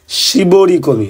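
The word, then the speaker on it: 絞り込み: number জোকেন ও কয়েতে শিবরি কমি ওটার উচ্চারণ ছিল শিবরি কমি ঠিক আছে শিবরি কমি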